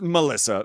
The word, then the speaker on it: Milissa: butchering your name is it's Melissa but you it's spelled with an i and actually it was